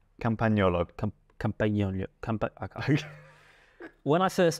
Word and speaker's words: Campagnolo: Campagnolo. Good pronunciation, like that. Actually, no, I pronounced the G. Campagnolo.